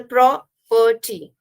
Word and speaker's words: property: Here the property. So it has two syllables again, where the pro is stressed and the perty is less stressed.